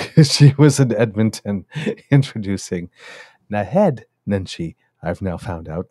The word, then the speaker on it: Naheed: And that evening, she was in Edmonton introducing Nahed Nenshi. I've now found out, not Nahid. So that's the proper pronunciation of his name.